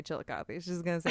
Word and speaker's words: Chillicothe: I just listened to the one where they were in Cleveland and they talked about Chillicothe.